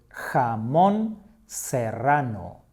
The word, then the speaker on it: jamón serrano: The other one is called jamón serrano. Jamón serrano. Don't worry if you cannot pronounce the R sound.